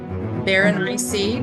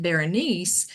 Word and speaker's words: Berenice: They were doing a recitation of it, and they said just rhyme it with something spicy, Berenice, something spicy.